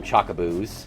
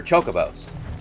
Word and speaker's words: Chocobos: I know they're both wrong. They're chocobos. They've always been chocobos.